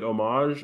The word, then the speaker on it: homage: Whatever it is, you don't pronounce the H.